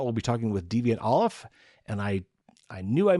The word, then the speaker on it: Ollam: After that, we'll be talking with Deviant Olaf. And I knew I mispronounced this when I said it earlier. It looks like Ollam, O-L-L-A-M, is how you spell his last name, but it's pronounced Olaf.